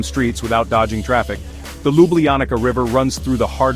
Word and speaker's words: Ljubljana: Slovenia's capital is Ljubljana, pronounced Liubljana.